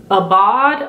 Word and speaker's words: Aubade: And then we have Aubade, Aubade. It's spelled A-U-B-A-D-E, which is like a coppery gold.